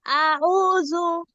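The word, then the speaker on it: أعوذ: জাউ জা- আউযু আপু এটা হচ্ছে দাল জাল, ওই নরম জাল, ঠিক আছে, এটা জিম না, এটা যাও না, জাল পেশ জু, জু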